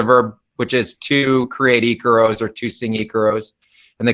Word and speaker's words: icaro: an example of uh of an ecoro is that how you pronounce it yeah icaro yeah it's you know it's